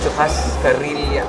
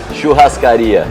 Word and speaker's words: churrascaria: Guarana and eating in churrascaria. How do you pronounce it? Churrascaria.